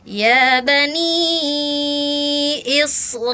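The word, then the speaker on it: يَا بَنِي إِسْرَائِيلَ: Ya bani is gitu tadi kakak ya bani israi gitu. Is is gitu ya. Harusnya ngalir rakhawah ya bani isroila.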